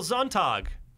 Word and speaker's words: Sonntag: Michael Sonntag. That's the German pronunciation from having taken years of German in high school and college.